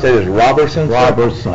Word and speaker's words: Robertson: Robinson Pastor Robinson 224 Lincoln Street say you pronounced that as Robertson Robertson r o b r s o n